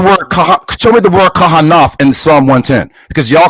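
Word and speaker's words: כהן: word I'm looking at the word what you're pronouncing Cohen what we would say Kahan in Psalms 110 and4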